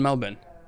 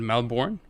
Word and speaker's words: Melbourne: but it was in Melbourne I used to pronounce it Melbourne but it's Melbourne Melbourne yeah I should know